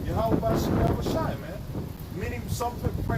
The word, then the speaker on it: Yahweh: But in his purest, in pure form, the Father's name is Yahweh and his Son's name is Yahweh Shai. That's in the purest form of Hebrew. And that's the true pronunciation of the names of the Father and the Son.